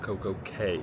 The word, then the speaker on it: CocoCay: They call it Coco K here, but then Castaway Key is spelled the same way.